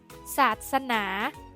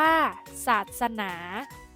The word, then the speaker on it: ศาสนา: อ่าน ว่า รส ชาติ ดาบส อ่าน ว่า ดาบส ศาสนา อ่าน ว่า ศาสนา แก๊ส อ่าน ว่า แก๊ส เยี่ยม ไป เลย